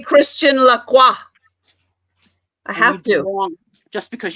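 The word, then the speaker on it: Lacroix: to say it because some people don't know and they say like quacks and it's not Quacks the ex is silent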